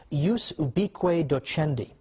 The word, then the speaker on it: ius ubique docendi: there was something called, in Latin, and I'm using the church pronunciation, ius ubique docendi, which literally means the right of teaching everywhere.